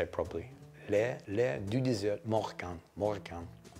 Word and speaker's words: L'Air du Désert Marocain: And it's, let me see if I can pronounce it correctly, L'air du désert marocain. I want to say it properly. L'air du désert marocain.